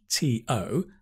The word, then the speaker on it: to: For example, to, T-O, the strong form is to, the weak form is ta.